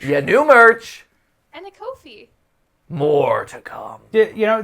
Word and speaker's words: Ko-fi: And a Kofi. More to come. You know, they officially said that they're pronounced Kofi, and that's just wrong. Wow. Instead of Ko-Fi? Yeah, Yeah. like, or coffee. Coffee.